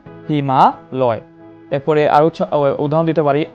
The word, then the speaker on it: হিমালয়: এর মূল অর্থটা হয় কিন্তু হিম আলয়, আমরা উচ্চারণ করি না হিম আলয়। আমরা এভাবে না উচ্চারণ করে ধ্বনির মাধুর্য সম্পাদনের কারণে আমরা উচ্চারণ করি হিমালয়।